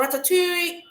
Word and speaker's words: ratatouille: Now ratatoui is pronounced in its original French context. It's not pronounced in the English context. It's pronounced in French.